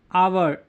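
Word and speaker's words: hour: ए an idea an आवर अब देखो फिर एच आ रहा है पर वर्ड क्या होता है ए साइलेंट है एच तो पढ़ा ही नहीं जाता तो इसलिए यहां पर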